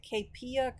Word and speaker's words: Kaypea: admire a lot called okay I pronounce it kpia Creations but it's KP and her first name